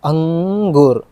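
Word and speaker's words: अंकुर: ഇത് അങ്ങ് ഒരു ഉച്ചാരണം അങ്ങ് എന്ന് പറയുമ്പോൾ എന്താണ് മൂക്കിനാണ് സൗണ്ട് വരുക ഓക്കേ സൗണ്ട് എവിടെയാണ് വരുക മൂക്കിനാണ് വരുക ഓക്കേ അപ്പൊ ഞാൻ പറയാം അങ്കൂർ മനസ്സിലായോ മൂക്കിനാണ് സൗണ്ട് പുറത്തേക്ക് വരുന്നത് ഈ ശബ്ദം നമ്മൾ ഉച്ചരിക്കുമ്പോൾ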